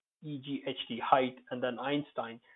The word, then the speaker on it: Einstein: Then there are words from German like height, Height, height, and then Einstein. So the EI, when it's pronounced like I, you can be certain that they are coming from German. For example, Einstein, it's a proper name.